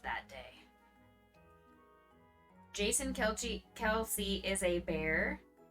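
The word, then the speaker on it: Kelce: Is it Kelsey? Or is it Kelch? Kelchi? Kelsey, okay.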